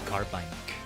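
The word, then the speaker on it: Carbink: Anything I used to pronounce that Pokemon's name is Carbank.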